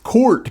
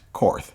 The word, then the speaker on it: Korth: i know a lot of people say that's pronounced court because germans and blah blah blah now it's pronounced karth because we won the war